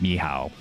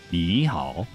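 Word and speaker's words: 你好: Like, it's not pronounced ni hao. Like, ni hao is like not how you pronounce hello in Mandarin. It's ni hao. You have to like go up and down with like every syllable.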